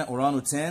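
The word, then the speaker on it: orangutan: الغاب هنشرحه كمان شوية، طبعا الجي ممكن ساعات تبقى سايلنت، الجي هنا أورانوتان ممكن ما نطقهاش، وعندي هنا كاراكل حيوان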